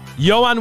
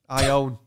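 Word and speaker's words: Ioan: Ion. Ion. Say it right. Johan.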